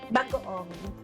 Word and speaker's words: bagoong: And how do you pronounce this one? Bagoong. Bagaong.